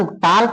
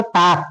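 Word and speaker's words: talk: आई डू नॉट टॉक टार्क नहीं इसमें silent होता है तो तुम बोलोगे टॉक टू ईच अदर ठीक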